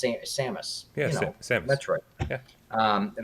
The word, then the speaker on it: Samus: Because, like, Samus, or that's how you pronounce it, Samus, Yeah, Samus.